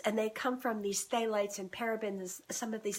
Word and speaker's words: phthalates: Phthalates and parabens are that's spelled PHTHALATES, phthalates and parabens.